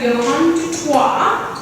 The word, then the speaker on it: Johan du Toit: Johan Toit, did I pronounce that right?